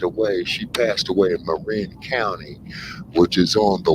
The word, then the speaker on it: Marin: go on the other side there you're in Marine County or Marin County as they call it but it's pronounced uh Marin and that's where Vish Shakur